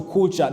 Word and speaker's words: Kulca: When you see on the screen right now, it is for Africa here, we say Kulca, but the Turkish pronounce it as either Kulca or Kulca, something like that.